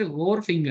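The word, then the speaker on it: wharfinger: the term वर्पिंग pronounced होर फिंगर, ऐसे करके बोलते हैं, ठीक है।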